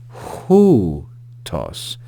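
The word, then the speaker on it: οὗτος: We see that there's a rough breathing mark or aspiration mark above the upsilon. So we're going to add the English consonant H before this diphthong.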